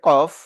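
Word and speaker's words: قاف: এটা হচ্ছে কফ।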